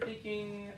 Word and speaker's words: thinking: Do you happen to notice sometimes whenever you say thinking, it comes off as an S sometimes? Thinking.